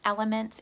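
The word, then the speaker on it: LMNT: makes a great one element is another great brand but that's spelled l-m-n-t and then the one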